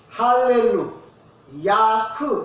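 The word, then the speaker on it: הללויה: 아까 할렐루야라고 안 하고 알렐루야. 저는 알렐루야가 무슨 뜻이냐? 잘 불렀지? 그리 물어볼 줄 몰랐지? 원래 히브리어로 말할 때면 할렐루, 야흐 이렇게 불러야 정확한 발음이에요.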